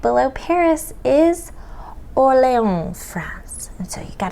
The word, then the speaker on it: Orléans: Now, you might think as Americans you'd say Orleans, like New Orleans, but that's not how you say it. You say Orléans.